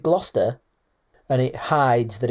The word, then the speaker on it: Gloucester: Could it just be that Foster rhymes with Gloucester and it hides that it's about the king so you can get away with it and not be done for it?